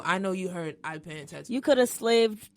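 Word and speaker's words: Penyen tèt ou: It's pronounced Penyen tattoo for those that don't read Creole.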